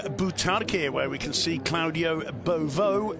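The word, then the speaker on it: Claudio Beauvue: Welcome back to Butarque, where we can see Claudio Beauvau, that's the correct French pronunciation, warming up at half-time.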